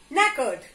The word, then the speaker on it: knackered: no yes T&O w here also the sound of K is silent so it will not be can occur it will be nekkid understood let's get going